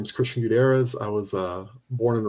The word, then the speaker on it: Gutierrez: How do you pronounce Gutierrez? Gutierrez.